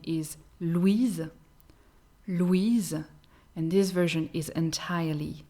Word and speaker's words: Louise: But another version of that name is Louise, Louise, and this version is entirely feminine.